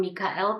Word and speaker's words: Mikael: old Archangel Mikael and I call him Mikael that's his the way you pronounce it in Hebrew and I'm used to